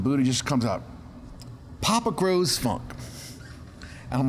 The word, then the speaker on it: Gros: jenny both said papa grows funk and i'm like i don't like it and buddha goes you're papa you grow the funk well also your last name is often mispronounced as gross anyways they're gross right